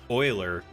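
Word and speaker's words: Euler: you did it champ oh pronounced Oiler you're just putting math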